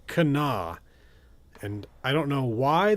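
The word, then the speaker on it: Kanawha: of locals saying this that this is apparently pronounced Kenna. And I don't know why they don't pronounce this Canawa, which is what I thought it was, but it's apparently Cana.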